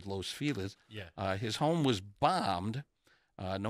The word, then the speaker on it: Los Feliz: 1937 Clinton's home in Los Feliz I'd like to say Los Feliz but apparently the locals say Los Feliz his home was bombed